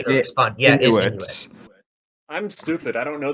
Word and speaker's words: Inuit: Yeah, it is Inuit.